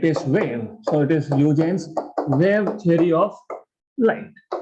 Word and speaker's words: Huygens: Some people pronounce it as Huygens. It is Huygens basically.